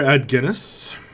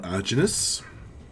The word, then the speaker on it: Adginus: He says, "I am Burgomaster Adginus, or Aginus, as some pronounce it.